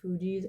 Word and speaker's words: Fugees: And then the other song that got channeled through after that was the song Ready or Not by, I believe it's pronounced Fugees.